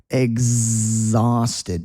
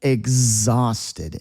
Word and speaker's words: exhausted: And one more time, listen to my pronunciation here. Exhausted. Do you hear that Z sound? Exhausted. Exhausted.